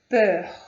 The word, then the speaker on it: peur: Observe como que é a pronúncia, esse EUR é uma pronúncia fechada, peur, ok?